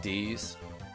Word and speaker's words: Deus: Yes, with her other name, Deus. Some people pronounce it D's.